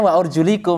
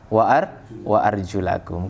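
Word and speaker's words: وأرجلكم: Tapi mereka, lah saya bacanya wa urjulikum, nanti jawabannya mereka begitu. Nah, begitu. Padahal kan harusnya kan sesuai dengan riwayat. Riwayat bacanya apa? Wa arjulakum.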